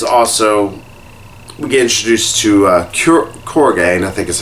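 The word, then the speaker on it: Kurogane: There is also, we get introduced to Korgane, I think is how his name's pronounced, who's pretty much just a ruthless, they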